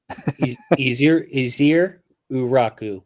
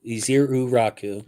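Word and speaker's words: Ezeiruaku: Pronounce his last name for me one time. Easier Uraku. Easier Uraku.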